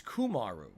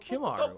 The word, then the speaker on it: Kumaru: It's Kumaru. Kumaru. I always thought your name was Kimaru. I'm sorry. Wow, I was pronouncing your name incorrectly all along.